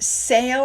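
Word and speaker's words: Seil: They also visited the island of Sale, I believe is how you pronounce it.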